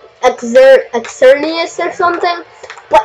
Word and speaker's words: Xerneas: Well, it's spelled with an X at the beginning. Do you know how, like, pterodactyl has a P in front of it?